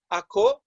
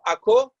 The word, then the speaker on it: Akko: is the city of Akko sometimes also spelt a CR e Accra but I'm using the Hebrew pronunciation for the city yeah this is the city of Akko it's a unesco world